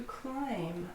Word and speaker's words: climb: To climb. I climbed a tree, I climbed a mountain. The final B is silent and not pronounced.